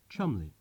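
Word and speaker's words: Cholmondeley: How many non-Englishmen would know that what looks like Belvoir Castle is pronounced Beaver Castle, Kais College, Keys College, Cholandley, Chumley.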